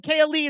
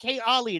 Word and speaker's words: Kalii: back couple things one kalii is a Hawaii boy his name isn't K Ali it's K Ali which is Hawaiian for royalty his last name is